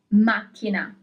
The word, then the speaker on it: macchina: The solution is macchina, car.